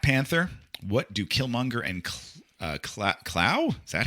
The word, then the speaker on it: Klaue: What do Killmonger and Clow? Is that how you say his name? Claw. Oh, that's right. It's Klaue. In comics, it's spelled funny but pronounced grammatically correct.